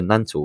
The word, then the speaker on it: Nantlle: But I did look up how to pronounce Nantlle Ridge, because I always called it the Nantlle Ridge.